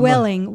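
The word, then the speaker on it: Vueling: how about Ving Airline never heard of them Welling Welling Spanish oh it's a v it's v u e l i n yeah it's pronounced well um it's a charter uh company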